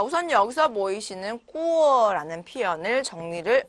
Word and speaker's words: 过: 자, 우선 꾸어, 사성으로 꾸어라고 읽으면 이때는 동사로서 지나가다 라는 의미로 활용이 됩니다.